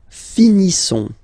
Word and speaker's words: finissons: Nous finissons. Okay, I-S-S-O-N-S. Issons. Nous finissons. Finissons. Okay, final S not pronounced. Nous finissons.